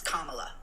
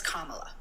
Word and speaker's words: Kamala: can you please say her name correctly it's Kamala I'm been sitting here quietly listening for about 20 minutes her name is Kamala and if you can't say Pro um please